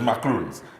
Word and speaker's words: macaroon: but it's macaroons. Is there a difference? Because I've heard it pronounced both ways. There's one made with coconuts and egg whites. Right. That is spelled with 2 O's.